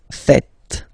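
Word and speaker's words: faites: French people tend to make the mistake and tend to to say Vu F okay uh B no no no no it's Vu fet Vu fet okay so remember final s here is not pronounced and then this H is not pronounced either so fet fet V fet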